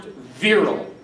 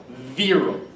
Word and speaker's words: virile: will be in our Unit 2 test, is pronounced virile. Again, that 10th word is pronounced virile.